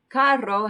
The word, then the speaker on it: carro: Carro has a double R, so you can roll that one if you want.